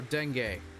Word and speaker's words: dengue: from a mosquito that's what what it is pronounce dengue oh dengue okay okay her glazed eye seemed to be